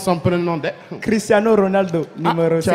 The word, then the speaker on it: Cristiano Ronaldo: Cristiano Ronaldo, numéro Tu as 5. roulé les R, c'est bien. J'ai roulé comme il faut.